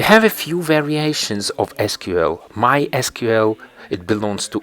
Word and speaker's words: SQL: rather wearing than programming is called SQL or sometimes it's pronounced as sequel simple query language for